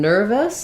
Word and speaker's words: nervous: So in nervous, I would just think about that like nervous, almost going right from my V to my S sound. Maybe a little bit of an I in there, nervous, but I'm just trying to kind of transition quickly because the stress is here on the ner syllable.